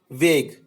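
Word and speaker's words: vague: टंग से हमने बनाया यूनिक, यू ई साइलेंट है, एंड वेग, यू ई साइलेंट है।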